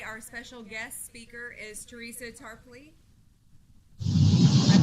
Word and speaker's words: Teresa Tarpley: producer and today our special guest speaker is Teresa Tarpley I pronounced it right I know I just asked